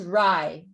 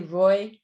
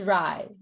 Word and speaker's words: Ray: just add it is it is ry it's it's a long a some people say roy because in bengali they tend to turn a's into but in this case it is specifically a long a i'm just saying that because roy it sounds like a british bricklayer or something like that so it is it